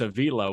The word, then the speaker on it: Avila: So what's interesting, Al Avila is how you say his last name. His son Alex was going by Alex Avila when he was with Detroit, but when he was with the Cubs, He said he wanted his last name to be pronounced Avila.